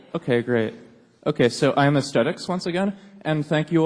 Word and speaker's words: Aestetix: Aesthetics, it's AESTETIX.